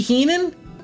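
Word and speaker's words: Hien: a super bright girl it's spelled h I en I know the English language isn't the best why on Earth that's not high in and then it's hean if it was hean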